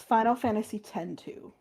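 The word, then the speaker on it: Final Fantasy X-2: It's Final Fantasy 10 2.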